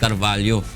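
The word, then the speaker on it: Carvalho: Rina na si ah ang pronunciation kasi sa Brazilian is si carvallo si Carlos carvallo ang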